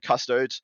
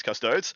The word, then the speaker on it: Custodes: all yeah yeah look i got told i've been told off uh quite a few times for the way i pronounce custodes apparently there's custod days yeah it's custodial custodians